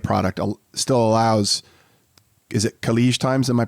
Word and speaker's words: Khaleej Times: under the affiliate product, still allows, is it Khaleej Times? Am I pronouncing that correctly?